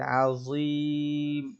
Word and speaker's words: عظيم: ঠিক আছে, যে আজিম এটাও খেয়াল করে পড়ে আসবেন, এটা জ একটু মোটা হয়ে উচ্চারণ হবে।